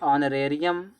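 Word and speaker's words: honorarium: ऑनरेरियम इसमें ऑनरेरियम में एच क्या होता है? साइलेंट होता है।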